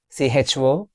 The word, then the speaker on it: chocolate: C-H-O-C-O-L-A-T-E. It's chocolate or chocolate. Let's discuss. It's how many syllables do we have here? It's having 2 syllables. C-H-O-C. Chocolate. L-A-T is, it's not late, it's lit.